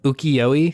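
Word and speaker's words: 浮世絵: Which is this, I think it's pronounced ukiyo-e style.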